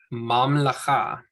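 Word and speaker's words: ממלכה: So mam, lacha, mam, lacha. There's 3 syllables. Instead of mam, m, lacha, there's not 4 syllables.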